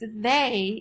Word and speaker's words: they: next word is they they should be pronounced and e a should be or an e y should be e so it should be f e the but it's they in this word the ey says a and that's actually should